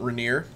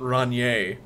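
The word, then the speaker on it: Rainier: the Pacific Northwest is called Mount reneer r n i e r um and uh one of my friends her mom uh when she first moved to Seattle she pronounced it mount rier which is just beautiful it's very very dignified um what's another one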